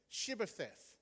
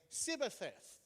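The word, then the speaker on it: Shibboleth: They said, "Can you say the word shibth?" Shibth. Can anyone say that? Perfect. Ephromites couldn't say that because they couldn't pronounce the H. So instead of Shibth, they'd say Cibbeth.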